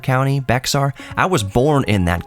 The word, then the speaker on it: Bexar: I always forget how to pronounce the county. Bexar County or Bayard County? Bexar?